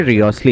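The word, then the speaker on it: Wriothesley: वैसे रियोस्ली है प्रोनाउंसिएशन उसकी, रायोस्ली।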